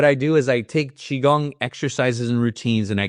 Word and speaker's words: Qigong: And Qigong, remember, guys, it's spelled Qigong. That is how you say Qigong.